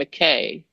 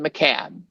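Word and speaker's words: Mackay: by a guy named McKay that everyone who's in finance knows, and he pronounced it McCad. And I'm thinking, Andrew could not have made that mistake.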